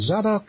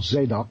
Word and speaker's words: Zadok: And Zadok, as some of your listeners may know, or Zadok, as it's pronounced in Hebrew, was the high priest to King David and his son Solomon.